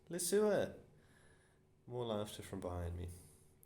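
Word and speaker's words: Leseur: is this your surname pronounce lee sir yes miss he's lying miss it's le sewer fishtail le sewer more laughter from behind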